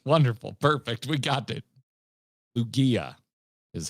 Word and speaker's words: Lugia: Wally, I actually legit appreciate you writing use the G like you say in gay. All right, so it's a hard G. Wonderful. Perfect. We got it. Lugia is how people pronounce it.